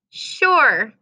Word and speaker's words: sure: that after me sure what makes sure a tricky word well let's say it really slowly sure oh what does it sound like it has at the very beginning does it sound like an sh it absolutely does sound